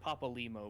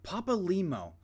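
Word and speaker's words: Papalymo: It's pronounced Papa Limo, by the way. Papa Limo.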